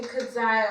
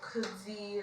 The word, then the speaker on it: Kudzai: Yeah, so now people call me Kudzai or Kudzi, like, it's now, you know.